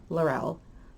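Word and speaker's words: Laurell: lau r e ll it's pronounced larell not the wreath way that I don't like that pronunciation at all but to make it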